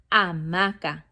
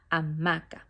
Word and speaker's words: hamaca: Hammock in Spanish, la hamaca. Remember, the H is silent. La hamaca, not la hamaca. La hamaca.